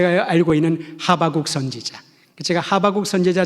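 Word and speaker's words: 하박국: 우리가 잘 알고 있는 하바국 선지자, 제가 하바국 선지자 잘 알고 있는 그러면 어떤 분들은 목사님 발음을 잘못하셨나? 호박국 아닌가? 비슷한 발음이다마는 전혀 다릅니다.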